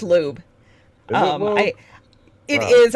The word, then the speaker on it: Loab: entity, the loab, conjuring loab, but, um, It's pronounced lube.